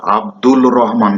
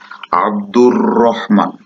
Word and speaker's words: আব্দুর রহমান: আর আব্দুল রহমান অনেকেই বলে, কিন্তু আব্দুল রহমান না, আব্দুর রহমান।